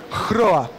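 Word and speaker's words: hröa: Se escreve com HR. Deu para perceber como que é esse som? Hroa. Você vibra o H e depois você faz o... Não, você aspira o H e depois você vibra o R.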